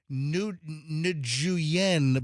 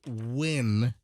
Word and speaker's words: Nguyen: By the way, that the name Win, Nguyen, it looks like you should pronounce it Nguyen, but it's pronounced Win.